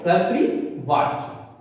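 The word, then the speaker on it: कर्तृवाच्य: ध्यान दीजिए, कर्तृ का उच्चारण सही कीजिएगा। र यहां आधार है यानी रेफ है और यहां पे लिखी मात्रा, तो कर्तृवाच।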